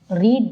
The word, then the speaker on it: read: ஸோ இந்த இடத்துல V2 and V3யும் என்ன சொல்லுவாங்கன்னா ரீட் தான்.